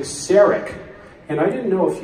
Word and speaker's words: Sarek: Leonard and Penny Cross the pronunciation of the name has always been Sarek and discovery I may be particularly Sonique order for me she keeps saying stearic and I didn't know